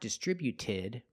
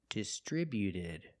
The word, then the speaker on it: distributed: When we add e d, the t at the end is between vowels. So, it's a fast d, not distributed, but distributed. Distributed. Put the stress on the second syllable only.